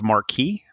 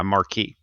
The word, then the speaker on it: marque: for what's called a letter of mark or a letter of marquee yeah marquee but it's spelled m-a-r-q-u-e right right um so